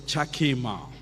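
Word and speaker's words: חכמה: Chakema, or it can be pronounced as Chakema.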